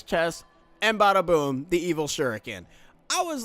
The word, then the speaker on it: shuriken: the best shuriken in the game the evil shuriken shuriken now pronounced shuriken it's not crash sure weaken if